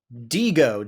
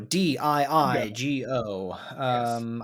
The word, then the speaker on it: Diigo: Diigo, Diigo. I don't think it's pronounced any differently.